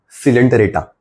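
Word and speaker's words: Coelenterata: बच्चों अगला फाइलम सिलेंटेटरेटा। ओ साइलेंट है और नाइरिया में सी साइलेंट है। सिलेंटेटरेटा नाइडेरिया।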